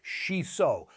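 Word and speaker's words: しそ: It's called shiso, pronounced shiso, sometimes called perilla or Japanese basil, and Japanese gardeners have been using it for centuries to protect their vegetables from pests.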